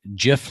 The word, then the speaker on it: GIF: come out and said, no, it's GIF. It should be a hard G, not a soft G.